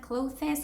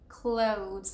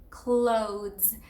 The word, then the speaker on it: clothes: We actually have to basically eliminate the last E. And so it's not clothes or clothes, it's clothes. And here's the phonetic transcription just so you can know, but it is all one syllable and it is clothes.